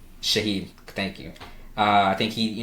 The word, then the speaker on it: Rashid Shaheed: Rashid Shaheed. Shaheed, thank you.